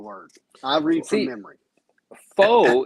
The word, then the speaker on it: faux: I read some memory foe is spelled f-a-u-x when they're using the word fake right and if you are